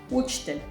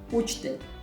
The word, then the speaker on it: učitelj: Učitelj. Teacher. And for example, house, U is like how we pronounce it, this U. So U, učitelj, učitelj.